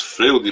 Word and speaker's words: Freud: Se escreve em português Freud, mas a gente fala Freud porque eu acho que é alemão, ou austríaco.